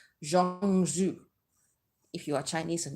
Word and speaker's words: zhong zhu: may not be but it's basically spelled as z-h-o-m-g-z-hu zhong zhu if you are chinese